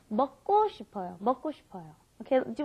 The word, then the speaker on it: 먹고: So anyway, for some reason, when you've got that K, the gyuk, followed by another gyuk, it ends up being a double gyuk most of the time. So it's not 먹고 싶어요, it's 먹고 싶어요.